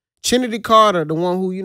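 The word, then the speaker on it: Chennedy: skot chined that's how you say her name chined Carter the one who you know hip check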